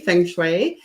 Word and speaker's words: feng shui: pronounced many ways and uh thank you for pronouncing it correctly feng shui um really it's very very simple it's it's